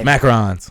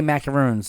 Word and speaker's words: macaron: um macarons yeah that I've ever had macaroons macarons yes some of the best macarons I've ever had and that's how I learned the the pronunciation of it both cuz I would always say macaroons yeah I used to say but the macaroons